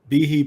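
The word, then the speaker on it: Behe: so let's put uh let's put bihi Bay he always pronounced his name bihi yeah sorry baby yeah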